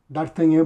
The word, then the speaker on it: Dartagnan: Pode me chamar no Instagram, Dartanhan. se escreve Dartagnan e eu mesmo tô fazendo a venda e o envio.